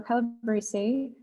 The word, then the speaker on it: Calabrese: Our third speaker is Bill Calabrese. Sorry if I pronounced your last name wrong.